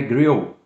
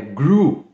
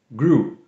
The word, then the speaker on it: grew: Cuidado, não é grill, tá? É grew, grew. Lembra daquele cara que é o vilão no meu malvado favorito? O senhor Gru? Então, é assim que se pronuncia, grew.